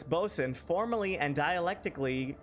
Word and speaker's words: boatswain: I always read that as boat swain.